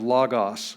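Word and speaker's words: λόγος: syllable that's pretty easy so we have lagos we have an omicron we have an armicron two omicrons two vowels two syllables la gas la gas word now we have a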